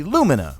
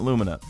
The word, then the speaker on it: Lumina: getting a quest for the alumina or Lumina some people like to pronounce it I'm calling it Lumina we're getting this quest